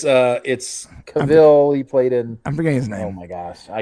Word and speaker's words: Cavill: You got me Henry Cavill in my mind, but it's Cavill.